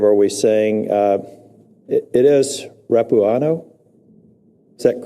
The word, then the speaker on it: Rapuano: It is Rapuano? Is that correct pronunciation? Yes. Mr. Rapuano, you mentioned, I think, earlier when I was